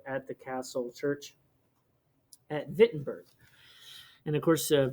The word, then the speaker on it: Wittenberg: the castle church at wittenberg and of course wittenberg is spelled with a w but it's in germany so it's pronounced with the v but anyway the 95